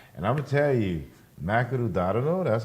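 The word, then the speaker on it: マクドナルド: Japan a lot, and I'm gonna tell you, Makanu Dadano. That's how they pronounce it over there.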